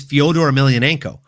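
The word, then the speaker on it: Fedor Emelianenko: the name he doesn't even know how to pronounce. Like it's Fodor Ailionenko.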